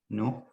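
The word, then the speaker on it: نه: Yek, do, se, chor, panch, shish, haft, hash, nuh, dah. Ofarin. Oh, Nuh ya. Nuh ya Kena.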